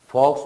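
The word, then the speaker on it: folks: next फॉक्स है, फॉक्स में L silent है, एफ की स्ट्रोक, के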